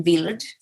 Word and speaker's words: Wild: Another one of my novels, The Wild Girl, tells the story of Dorchen Wild, which is pronounced Wild, but is spelt wild and means wild.